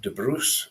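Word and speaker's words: de Brus: family in Scotland 1274 his father Robert de Bru in French pronunciation was a powerful Lord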